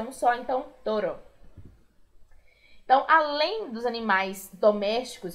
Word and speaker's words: toro: E o touro só tirou ali a letra U, porque fica toro. Toro. Toro. Lembrando que tem um R só, então não vibra tanto como em perro, burro. Nesse caso é um só, então toro.